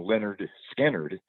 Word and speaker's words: Lynyrd Skynyrd: guy has changed the name and the the pronunciation but it you know Leonard skinnard uh but coach skanner um he became friends